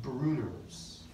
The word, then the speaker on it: Brunner's: There's also, in the duodenum only, there's something called Bruner's glands in the submucosa. It's in the duodenum. Bruner's glands. Spelled Brunner's, you pronounce it Bruner's.